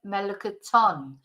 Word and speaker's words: melocotón: And then in Espanol, el melocotón. So we've got the accent on the end here, so that's where we have to put the stress on the word.